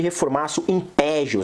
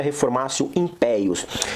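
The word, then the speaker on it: reformatio in pejus: Reformatio impeius, ou ne reformatio impeius, as pessoas costumam chamar aí de reformatio impégios, né? Mas se pronuncia reformatio impeius.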